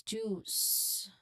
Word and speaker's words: juice: Pronunciation requires a long oo sound like the O in a double O in food. So there's a long oo sound there and it ends with distinct s sound. So it's juice, not jew, but juice.